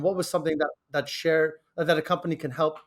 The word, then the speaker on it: Cher: it is yeah so it's called share and uh I named it uh not because I I love the singer uh especially right now that's spelled s-h-a-r-e sure no no CH yeah so Cher you can find us at uh at share a home so c-h-e-r-a home uh and so you